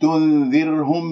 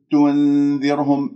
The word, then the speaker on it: تنذرهم: تنذر، وهنا الراء ساكنة قبلها مكسور، إذن ترقق الراء.